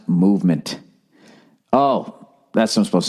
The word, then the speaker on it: MVMT: this week all right mvmt watches everybody pronounced movement oh that's what i'm